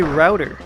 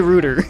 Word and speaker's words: router: doppelganger Luigi here I've always pronounced it Roots over here I just say router now we don't say Rooter you you would think